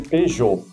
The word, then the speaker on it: Peugeot: É muito forte e ali é um p e u éjô.